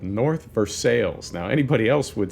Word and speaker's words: North Versailles: from a place called North Versailles now anybody else would say north of Versailles but in Pittsburgh they say North Versailles no fancy silent l's for us and I remember asking